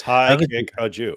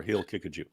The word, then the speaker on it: Haqiqatjou: no look at let's let's see how it's pronounced I'm your host it's high kick a Jew high kick a Jew or he'll kick a Jew those are the correct pronunciations reminds me of